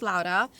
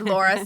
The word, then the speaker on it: Laura: Latina and I say my name is Laura and I guess you could say Laura sometimes if you're just going to butcher it but I say it's